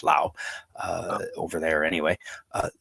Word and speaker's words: Lao: uh whiskey and and and in in in Lao there is an s on it uh so a lot of people pronounce it LA but it they it is pronounced Lao uh over there anyway uh said that too